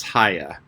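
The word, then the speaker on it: Haigha: happy his name is haya he pronounced it so as to rhyme with mare i love it with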